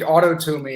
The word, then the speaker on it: Autotomy: Autotomy is how I've pronounced it, not to be confused with autonomy. Nomos, obviously, is right, Greek for law, and this is tomos for severance. So it means self-severance in Greek.